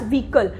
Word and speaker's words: vehicle: it is pronounced as vehicle here the h word is silent for example my favorite